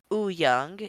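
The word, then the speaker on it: Wooyoung: with Uno the next member is um Jung Wu young or it's pronounced U young he is the m he is a main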